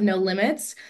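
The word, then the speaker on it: No Limbs: founder and CEO of No Limits um the B is silent and that is because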